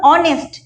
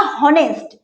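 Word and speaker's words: honest: যেমন অনেস্ট আমি বলছি না হনেস্ট।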